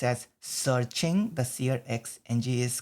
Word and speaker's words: SearXNG: It's actually pronounced as searching. The SearXNG is called as, the X is just the short form for searching in between.